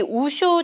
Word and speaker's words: 우슈: 진짜 은퇴라고 생각하면은 저도 모르게 자꾸 눈물이 나고 제가 마음은 아직 준비가 안 돼가지고 우슈가 저희 인생이기 때문에 우슬의 중국식 발음인 우슈.